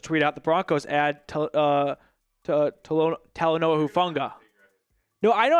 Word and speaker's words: Talanoa Hufanga: Ian Rappaport just tweeted out the Broncos add Talanoa Hufanga. No, I know how to say it, but when it's just saying it quickly. As you say it more, you get better at it, of course. Talanoa Hufunga.